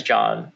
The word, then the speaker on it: Xhon: so my name is john uh if you see me online it's xhon and uh the xh in my language is uh it's john it's a j it's pronounced as a j so it's just john